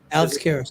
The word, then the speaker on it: Karras: Alex Karras, that's right.